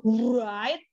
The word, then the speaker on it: write: Bukan write. Bukan, W-nya enggak terbaca. Tapi tidak terbaca.